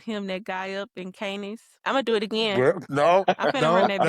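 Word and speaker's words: Cannes: No, it's Cans. It's a can. Yeah. Yeah, it's a it's can the Canfield film festival. You don't even pronounce the S.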